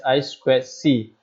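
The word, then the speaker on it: I²C: circuit i I see if pronounced as I square C it is a multi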